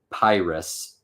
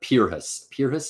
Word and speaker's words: Pyrrhus: So he's remembering the line, and he says, the rugged Pyrrhus, or Pyrrhus is, I think, how you say it.